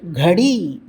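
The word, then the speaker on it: घड़ी: அடுத்தது பாருங்கள், கடி. கடி, கடி. இந்த டாவிற்கு கீழே புள்ளி வைத்துள்ளது. எனவே கடி, கடி என்று சொல்ல வேண்டும்.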